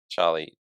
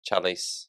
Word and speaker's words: Charlize: And I think even Charlie Charlie Theron. How do you pronounce Charlie's. Charlize Yeah. Theron?